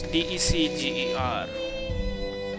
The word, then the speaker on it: Decger: It's Decger. It's like December-ger.